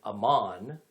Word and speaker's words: Amman: and by the way amman the capital of jordan is just the arabic pronunciation of the ancient territory of amon which the kingdom of